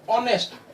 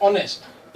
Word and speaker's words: honest: ध्वनि देखेंगे, वो है ऑनेस्ट। ओ से शुरू हो रहा है, ऑनेस्ट, यानी एच साइलेंट है इसका, ओ से सीधी ध्वनि शुरू होती है, ऑनेस्ट।